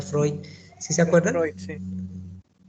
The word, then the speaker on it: Freud: psicosexual del doctor bueno se escribe pregón se pronuncia freud si se acuerda no irse a la